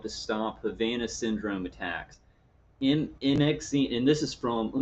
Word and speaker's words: MXene: I don't know how to pronounce it. I guess MXene. It's MXene. It's a fabric being developed to stop Havana syndrome attacks. MXene, and this is from.